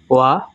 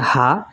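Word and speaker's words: は: 1 নম্বর rules, noun 1 plus ওয়া plus N2 plus this. এখানে N2 মানে নাউন 2। এখানে লক্ষণীয় এটা ওয়া। আমরা অনেকে জানি এটা হা, তবে হা যখন পার্টিকেল হিসেবে বসে তখন তার উচ্চারণ হয় ওয়া।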